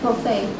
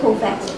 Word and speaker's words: parfait: Of course, for example, borrowed words from the French like parfait. Most people would say parfait, but it should be pronounced parfait.